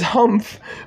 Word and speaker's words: humph: I don't know if humph is a word, but it says humph rhymes with month. Does it not?